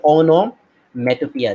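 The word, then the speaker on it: onomatopoeia: একজন ইয়া করেছে অমনোম্যাটোপোয়িক, না এটা পোয়িক না, এটাকে বলা হয় অনোম্যাটোপিয়া, এর উচ্চারণ হচ্ছে অনোম্যাটোপিয়া। দেখো অনোম্যাটোপিয়া, পিওই পয়েম না, ওইখান থেকে হচ্ছে ইয়া।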